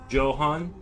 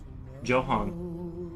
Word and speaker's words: Joan: Joan was a common man's first name. It is pronounced Johan. Johan.